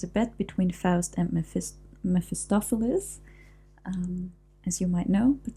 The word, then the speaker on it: Mephistopheles: So the cast for this scene is the Lord and Mephistopheles, as I already said. It's so difficult to pronounce because in German we say Mephistopheles, so the emphasis is very different.